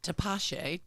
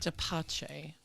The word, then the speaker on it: Tepache: Well, this is Tepache. Tapache. Even though it's spelled, Tepache, Tepache. That sounds right.